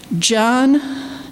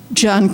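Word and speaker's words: Jyon: It says, the Dearborn Police Department is asking for the public's assistance in locating John, it's spelled J-Y-O-N, Collins, a person of interest in connection with the November 7th hit and run.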